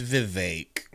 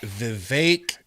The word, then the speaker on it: Vivek: It's Vivek. All right. Okay. Vivek like cake.